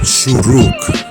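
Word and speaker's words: שׁוּרוּק: Now, for our last one, we're looking at the letter shuruk. Shuruk. Can you guess what sound this makes? It makes the ooh sound.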